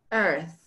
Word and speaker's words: earth: Va en la tercera y además aquí añadiríamos este simbolito del 3 con el alargado.